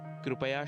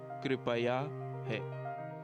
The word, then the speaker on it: कृपया: हैं संस्कृत में भी कृपया शब्द ही है वस्तुतः यह शब्द हिंदी में भी संस्कृत का ही मूल रूप है इसे अनजाने में कृप्या ऐसा कह देते हैं जबकि शुद्ध उच्चारण कृपया है फिर मिलेंगे लेट अस